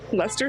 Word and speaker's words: Leicester: Also, I find it really funny that the Brits seem to eat the letters in some of the names of their major sites.